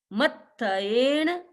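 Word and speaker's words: मत्थएण: मत्थयेन वन्दामि, त और थ मिला हुआ है, इसलिए मत्थयेन वंदामि, मत्थयेन वंदामि।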